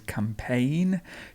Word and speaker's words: campaign: removed next word is campaign campaign it's a silent g campaign and then we